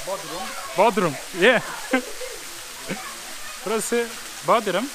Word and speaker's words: Buderim: Burası Buderim. How do you say? Buderim. Buderim. Yeah. Buderim. Yep. Like my butter.